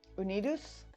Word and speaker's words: Unidos: I guess Unidos would be the more Spanish type pronunciation, something like unite us, like that, like unite us except with a D and run together, sort of.